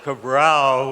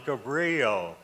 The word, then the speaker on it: Cabrillo: to pronounce it we we thought of cabral which was the portuguese way of doing it and this board finally decided on cabrillo right and it was